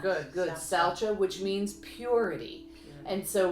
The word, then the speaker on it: Saucha: Nope, that's how I heard it pronounced. Good. Saucha, which means purity.